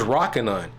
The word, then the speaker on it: Rokinon: to pronounce this let's let's Google this real quick rocking on oh my gosh it's rocking on okay I was wrong okay I was wrong